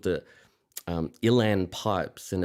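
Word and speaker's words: uilleann: It's called the um Ilan Pipes and it's spelled UI N L E A N.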